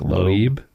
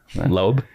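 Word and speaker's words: Loeb: I'm like lob or web lobe.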